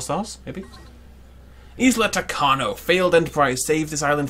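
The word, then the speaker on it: Tacaño: Takano is how we're going to pronounce it from now on.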